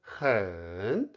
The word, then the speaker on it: 很: The third tone 很 changes to the second tone 很 because 好 is also a third tone syllable.